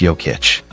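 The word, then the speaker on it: Jokić: Fun fact, Joic's nickname Joker came from teammate Mike Miller who couldn't pronounce Yic. It's Yokic.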